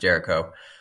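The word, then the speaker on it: Géricault: messed up here but his name is Theodore Jericho it looks like garol but it's pronounced Jericho the raft of the Medusa is a painting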